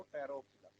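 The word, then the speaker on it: Pteropsida: और फिर बोलो टेरोप्सिडा। पोटैरो नहीं बोलना, ठीक है? टेरोप्सिडा। पोटैरो यहाँ पी साइलेंट है।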